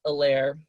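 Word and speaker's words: Helaire: at 24 we have clyde edwards elaire the h is silent um that's according to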